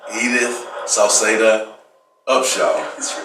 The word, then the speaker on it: Hedith Sauceda Upshaw: Hedith Sauceda Upshaw.